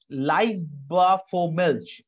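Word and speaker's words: Liebfraumilch: There is something called Leibervormilch. I repeat the once again. It's the pronunciation is something like let's take a look. Leib, okay? L-I-E-B.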